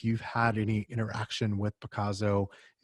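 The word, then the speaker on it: Pacaso: I'm going to probably pronounce it incorrectly. Picasso, P-A-C-A-S-O, Picasso.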